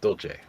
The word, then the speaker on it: Dolce: Well, in Italian that would be pronounced Dolce.